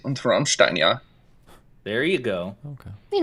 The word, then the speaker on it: Rammstein: I don't think you have enough phlegm in the pronunciation. It's supposed to be like Rammstein or something.